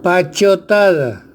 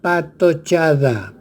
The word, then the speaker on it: patochada: Pachotada. La famosa pachotada se escucha a los parlamentarios, a los periodistas. La palabra es patochada. Patochada. Aquí hay dislexia. Cambio de che por T.